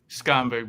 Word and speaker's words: Skonberg: It's getting to be fall, and I'm happy to be here with our special guest, Skonberg. Did I pronounce it correctly? Skonberg, but close enough.